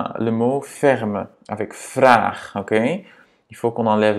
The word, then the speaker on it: vraag: C'est pas vrag, c'est vraag, ok? Et à nouveau, c'est donc parce que dans l'infinitif, donc la base du verbe, c'est vragen. On a A et pas A. Vragen, A. Ja? Et voilà, si on enlève le EN, ça va être vrag, le radical, supposément. Mais bon, c'est pas vrag, parce que la base du verbe, c'est vragen. Donc, il faut qu'on double le A pour garder ce son.